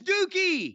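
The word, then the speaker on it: Douki: listen d o u Ki how do you pronounce d o That's dookie he defeated dookie El Desperado defeated dookie Tokyo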